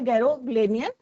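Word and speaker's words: Garoghlanian: तो यहाँ पे प्रोनाउंसिएशन क्या है? गैरोग्लेनियन फैमिली।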